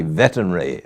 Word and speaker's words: veterinary: this is from the Newry Veterinary. I always have trouble pronouncing that word.